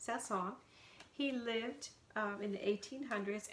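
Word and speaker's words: Saint-Saëns: It looks like Saint-Saens, but it's French, so it's pronounced Saint-Saens.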